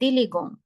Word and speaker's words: élégant: So it would become elle est élégant.